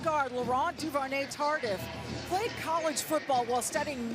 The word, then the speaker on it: Laurent Duvernay-Tardif: Love the way you pronounce that name. Michelle, give it to me one more time. Laurent Duvernay-Tardif.